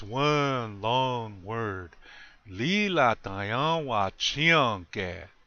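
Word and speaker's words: líla: Accent on the first syllable. Lila. One more time. Lila.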